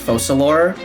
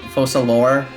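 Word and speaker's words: Focalors: One, so my friend who played this story last night said it is pronounced Focalor, which makes sense because in French the S at the end of an ORS is silent, Focalor.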